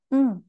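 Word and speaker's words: うん: Hai kita akan kenalan ada satu lagi yaitu m tulisannya u n tapi kita bacanya E ini bentuk yang informal ya lalu untuk istilah Enggak ini informal ya kita gunakan m sekalipun tulisannya u UN tapi kita bacanya m kita latihan ada dan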